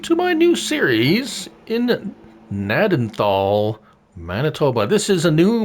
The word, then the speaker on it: Gnadenthal: the actual map of nadanthal that's how you pronounce it Manitoba uh so Elona